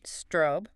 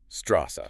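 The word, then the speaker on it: Straße: The word for street looks like s t r a weird b. Strobe. No. Strawa.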